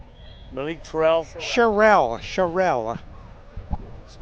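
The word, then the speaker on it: Sharell: His last name is Terrell. Malik Trell. Charelle. Charelle. Spell it.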